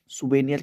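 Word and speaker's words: souvenir: सुनिस भी दिया इनको सुवे नियस पढ़ते हैं ठीक है इसकी स्पेलिंग थोड़ी अलग होती है प्रोनंसिएशन थोड़ा अलग होता है सुवे नियर कहा जाता है स्मृति चिन्ह कोई चीज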